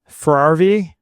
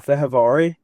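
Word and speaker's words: Fehérváry: Ferrarvi? Ferrarvi? F-E-H-E-R-V-A-R. Oh, Fehervari? Yeah, there you go.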